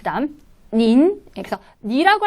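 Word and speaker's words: 您: 니, 그 다음 닌. 그래서 니라고 할 때는 삼성이었고요. 닌이라고 할 때는 이성으로 발음합니다.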